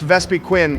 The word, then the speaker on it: Vespiquen: It's pronounced Vespiquen.